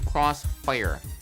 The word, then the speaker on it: Krosfyah: moniker higher level i renamed themselves to cross fire i am not mispronouncing that the man really said